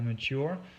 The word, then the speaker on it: mature: Si le mot mature n'a pas été super bien prononcé, c'est vraiment mature. Donc c'est l'accent sur la deuxième syllabe.